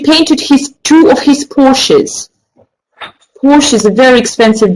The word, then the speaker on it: Porsche: let you know that it is pronounced Porsche not porch okay so that's the